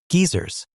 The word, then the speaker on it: geyser: Load limiting can apply to what in South Africa are termed geysers, pronounced hilariously geysers, hot water heaters, a big source of electricity consumption for residential customers.